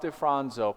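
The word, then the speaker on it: DeFronzo: I said that I said Dr. Defranzo's name wrong the last time we talked about this. So I want to be very very clear. Dr. Ralph Def Fronzo coined this phrase, the ominous octet.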